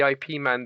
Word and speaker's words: Ip Man: One of the characters from the IP Man became quite popular. Is it IP or is it IP? IP, but I say IP. It's Ip Man is how it's pronounced.